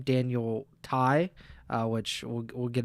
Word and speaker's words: Tsay: figured out how to say his name Daniel Thai.